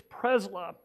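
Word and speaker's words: Przybyla: b y l a I think it's prla uh they don't pronounce the b but I I could be mistaken but that person she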